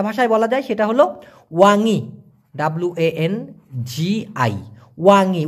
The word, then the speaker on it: wangi: হারুম মানে হচ্ছে সুগন্ধ অথবা মিষ্টি গন্ধ, যেটাকে আবার আর একটা ভাষায় বলা যায়, সেটা হলো ওয়াঙি, WANGI, ওয়াঙি।